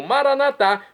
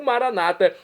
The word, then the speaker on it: Maranatá: E agora eu clamo Maranatá, como dizemos nós católicos, do dialeto de Jesus, o aramaico, ou maranata, como dizem nossos irmãos separados das comunidades evangélicas ou protestantes. Não importa pronúncia, o significado é o mesmo.